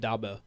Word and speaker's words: Dabo: You said Dabo.